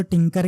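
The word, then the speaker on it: Tkinter: popular यह टी के टी के ही है जो टिंकर के नाम से प्रोनाउंस होता है ठीक है तो उसका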